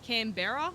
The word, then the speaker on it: Canberra: It's spelled like Canberra, but you just say Canberra.